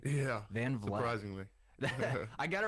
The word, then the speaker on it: Van Vleck: Am I pronouncing the town name correctly? Yeah. Van Vleck.